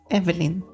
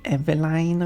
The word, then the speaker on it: Evelyn: would pronounce it, but I would say Evelyn. So basically just short vowels altogether. I've had like one person say Eveline or something like that. That just sounds weird.